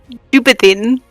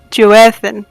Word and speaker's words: Joan: sorry did you just pronounce that name as juin that's not how it's pronounced at all no no no it's Joan oh my goodness terrible